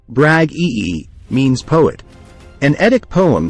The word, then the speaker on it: Bragi: bragi in Old Norse the name braggy pronounced as brag ee means poet an edict